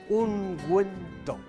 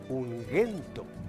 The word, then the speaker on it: ungüento: Y esto, señores, ungüento. Si no llevara estos dos puntitos llamados diéresis o crema, esto se pronunciaría ungüento, como Miguel.